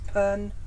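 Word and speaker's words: Penrhos: And I'm going to get the pronunciation of that wrong, so it's Penross. Silent H.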